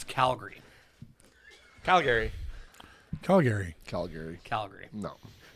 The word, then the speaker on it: Calgary: I said Calgary yeah you don't up Calgary calary Calgary fun fact I think it was a National Geographic way back when did an article on how you pronounce Calgary I know it's C and and the and